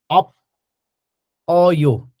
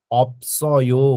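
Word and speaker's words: 없어요: अप अयो यसरी हुँदैन, यसको उच्चारण अप, अनि यो जुन स छ नि सको उच्चारण यता गएर अप्सयो हुन्छ, के हुन्छ, अप्सयो गर्नु पर्दछ, अप्सयो।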